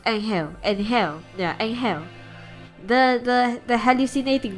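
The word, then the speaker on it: Anghel: Is that how his name is pronounced? Angel.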